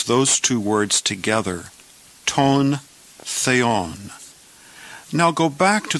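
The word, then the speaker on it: τὸν: And again, look at the grave accent over the word, and we pronounce it ton.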